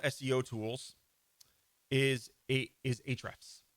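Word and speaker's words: Ahrefs: tools is a is a traps some people call it a eight refs but it's just called a traps okay even though it has an A in it a is silent this is the king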